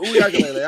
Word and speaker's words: Uiagalelei: No, Uiagalelei.